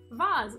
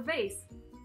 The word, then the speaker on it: vase: that adorable it's a kitty cat vas or vase however you prefer to pronounce that word but that's what this